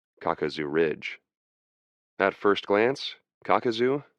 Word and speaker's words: Kakazu: At first glance, Kakazu, pronounced cock-a-zoo, did not seem especially difficult, neither unusually high nor uncommonly steep.